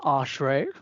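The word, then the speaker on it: Aashray: So, my full name is pronounced Ashray with a double A, but yeah, I go by Ash just as a sort of shorter name, and my name means shelter.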